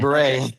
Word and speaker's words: Clare Beret: Yeah, Clare Beret. Clare Beret. It rhymes, so it kind of makes sense.